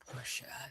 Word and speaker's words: Porsche: I know we're going to see a little bit of the born uh burnt Porsche. Porsche. Porsche. That was two way. Two syllables.